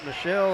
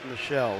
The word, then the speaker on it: Michelle: I've known some that calls it Michelle. I've known some that call it Michael. And it is announced Michelle.